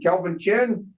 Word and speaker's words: Kelvin Chin: very much now Mr Kelvin chin is that how you say your name it looks easily spoken and pronounced exactly just like just like it looks exactly okay and you're